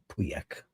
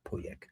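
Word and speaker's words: Pauillac: Puyak pyak. Poyak. That's the right way to say it. Not puyak. Poyak.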